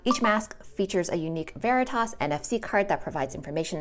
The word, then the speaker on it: Veritas: This is pronounced Veritas, and this card inside, you can open it up with your phone. Each mask features a unique Veritas NFC card that provides information on how your individual mask delivers results.